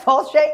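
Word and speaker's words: Failte: It is not what it looks like. It's spelled what? F-A-I-L-T-E? Yeah. F-A-I-L-T-E. Does that look like Falche? No. But Falche.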